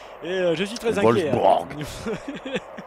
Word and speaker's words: Wolfsburg: Wolfsburg. Merci, tu as raison de le prononcer avec l'accent, c'est quand même plus impressionnant.